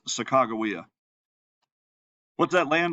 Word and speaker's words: Sacagawea: to pronounce that wrong you've probably been taught to pronounce it Sacagawea or some other oh terrible mispronunciation her name really is sakagawea what's that land like